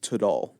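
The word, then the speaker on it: Tidal: T I D A L. I'm pretty sure that spells title. It says here it's pronounced Tadal.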